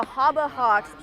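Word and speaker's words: Habahax: this sign and then the Haba Hawks spelled h-a-b-a-h-a-x is spelled exactly how Kim Grandpa would say Harbor Hawks and you know Cam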